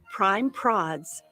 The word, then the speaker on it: Prime Prods: Prime Prods rhymes with classy broads.